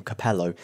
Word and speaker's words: Capello: Capello even though Fabio Capello is Italian and pronounces his name Capello I was trying to be clever you see